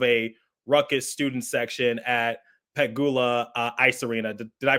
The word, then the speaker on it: Pegula: What was it like playing in front of a ruckus student section at Pegula Ice Arena? Did I pronounce that correctly? Yeah, Pagoula.